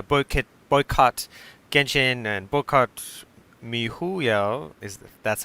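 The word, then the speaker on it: miHoYo: looked up uh bullkit boycott genjin and bokot mihuyo is that's how you say it yeah you've said it it's me hoyo and uh yeah the last tweet for woodcutting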